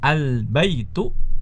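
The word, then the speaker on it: البيت: Ya, salah kalau kita membacanya dengan al-baitun, itu salah. Ya, al-baitun salah.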